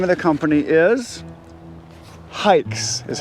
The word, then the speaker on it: HAIX: of the company is hikes is how it's pronounced like hiking like hikes but it is spelled h-a-i-x h-a-i-x go to their